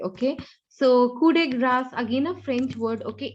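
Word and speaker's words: coup de grâce: So coup de grass, I would rather say. Okay. So coup de grace, again a French word.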